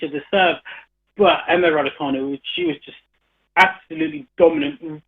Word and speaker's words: Raducanu: Emma Raducanu. Is it C pronounced K rather than a Ch? Yeah, it's K. Yeah, I've got my studio manager nodding in agreement. It's definitely Raducanu.